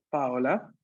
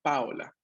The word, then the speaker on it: Paola: Paola. Paola. Arrivata. Ok. È arrivata. Aquí, paréntesis, acá en italiano el nombre es Paola. Con el acento sobre la Paola.